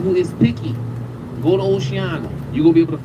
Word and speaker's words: Oceana: The number one place I recommend is a restaurant called Oceana. So it's spelled like ocean with the A at the end.